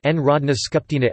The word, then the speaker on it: Народна скупштина: The National Assembly Serbian, Narodna Skupština, Narodna Skupština, pronounced Narodna Skupština Sbj, is the unicameral legislature of Serbia.